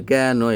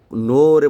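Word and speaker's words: know: বলা হয় silent word আমি যখন ছোট ছিলাম তখন আমি নোরে বলতাম কেনো নো যে কে এন ও ডব্লিউ নো এখানে কে টা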